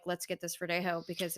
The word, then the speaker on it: verdejo: yes and it is verdejo yes spelled v-e-r-d-e-j-o but obviously the j is silent so it's like verde ho like ho ho ho like santa claus um but yeah it's